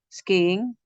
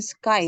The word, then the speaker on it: skiing: Skiing? Mm, Um, I have been already going skiing. mm. Going sky ya, or going Skiing. skiing. Iya, Jadi dua skiing. kali ing-nya. Iya, itu beda sama sky.